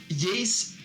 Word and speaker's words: Jace: you get to see Jace rhymes with bass mr.